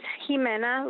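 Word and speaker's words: Ximena: all too short supply my name is jimena that's spelled x-i-m-e-n-a and i'm a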